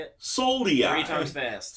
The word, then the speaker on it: Soliai: Soliai. Three times fast. Soliai, Soliai, Soliai.